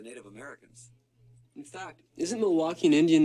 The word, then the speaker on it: Milwaukee: In fact, isn't Milwaukee an Indian name? Yes, Pete, it is. Actually, it's pronounced Miliwake, which is Algonquin for the good land.